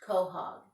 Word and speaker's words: Quahog: and his family within the fictional town of Quahog Massachusetts technically it's pronounced Quahog and a Quahog is a large clam many